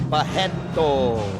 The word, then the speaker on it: Barreto: And the R's in Brazil you pronounce as H, so you will say Barreto.